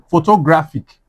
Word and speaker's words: photographic: photographic So, let's say pho- to- gra- phic Where is the stress? Second to last, yeah.